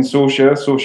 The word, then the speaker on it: Saoirse: And obviously, Vegan Gains and fucking Saoirse rhymes with Porsche. I always struggle with that fucking pronunciation. Saoirse Morava rhymes with Porsche and lava.